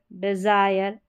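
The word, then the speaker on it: desire: आई आर ई है, तो आप याद रखें आई आर ई में पूरे का उच्चारण, आई का उच्चारण आई करके हो जाएगा और पूरे का उच्चारण आयर, आयर।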